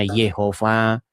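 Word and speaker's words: Jehovah: Ada yang membacanya Yahwe, ada yang bacanya Yehova. Begitu. Cuman, cuman nama yang diperkenalkan kepada kita itu hanya huruf mati saja begitu. Bagaimana cara huruf membacanya? Ya, sampai sekarang itu eh belum ada atau masih debatable, seperti itu.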